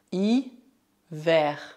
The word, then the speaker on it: hiver: Por outro lado, preste atenção às palavras que também terminam em E, R, mas que devem ser pronunciadas R. R. Por exemplo, hier, hier, hiver, hiver.